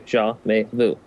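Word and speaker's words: Jamais Vu: say it it just it's three parts it's jaah like zah Gabor may like the month and then Vu like Voodoo jaah May Vu there you go easy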